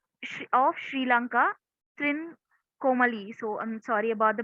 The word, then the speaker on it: Trincomalee: Okay, so this was held in Trikomale of Sri Lanka, Trincomalee. So I'm sorry about the pronunciation.